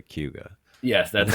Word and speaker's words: Cayuga: I always thought it was Cayuga, and then I started hearing locals say Cayuga. Yes, And that's how that is how we pronounce it. It's like one, yeah, a blended weird word.